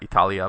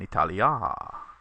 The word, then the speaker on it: Italia: this note is that Italia by itself is a short a ending, Italy, and when you add in the preposition with it, you get a long a, in Italia.